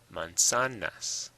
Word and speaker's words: manzanas: Manzanas. It's on the sa.